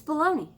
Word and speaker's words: bologna: new year new me bologna it's baloney it's baloney i don't know